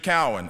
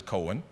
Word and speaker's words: Cowan: before my name was called mr cowan or as is often the case in that time and because no one knew who i was they would mispronounce it as cohen mr cohen and so